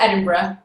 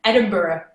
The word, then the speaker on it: Edinburgh: We pronounce it Edinburgh. But I think you guys pronounce it Edinburgh.